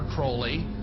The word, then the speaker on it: Crowley: about was aliser Crawley he likes to have his name pronounced Crowley to rhyme with holy and uh the satanists